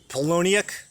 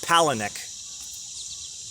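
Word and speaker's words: Palahniuk: palahnuk palanek Chuck palahnik I just learned how to say his last name the other day I've been reading the guy for years I polonic no it's Pala Nick didn't know that Chuck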